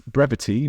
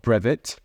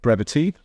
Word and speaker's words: Brevitē: the brevity logo on now it's brevity not brev I've been told to pronounce it brevity so I I really